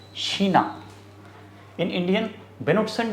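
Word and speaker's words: China: mayor internet आल्स Sheena चाइना की spelling तो same है बोलेंगे Sheena in Indian Benson D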